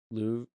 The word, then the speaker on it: Louvre: Louvre, the Louvre. Louvre, Louvre. Louvre. Louvre. At least closer. It's Louvre with an R at the end.